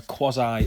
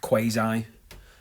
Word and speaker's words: quasi: legislative function now that that may be pronounced in certain ways in America you're more likely to hit quasi uh than quasi or quasi uh I'm not quite sure what I usually go with I would probably as a common northerner go with quasi quasi legislative purpose and